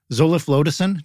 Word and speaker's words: zoliflodacin: Can you tell me about zoliflodacin?